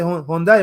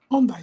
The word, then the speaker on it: Hyundai: Hyundai, ¿verdad? El carro. Hyundai, sí, Hyundai.